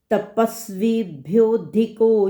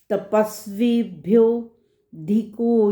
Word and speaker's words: तपस्वीभ्योऽधिको: तपस्वीभ्योऽधिको योगी, ये जो S silent है, वर्ड है अधिको, और संधि करेंगे तो अधिकः। हम इसको एस को नहीं बोलेंगे। तपस्वीभ्योऽधिको योगी, ज्ञानीभ्योऽपि मतोऽधिकः, ज्ञानीभ्योऽपि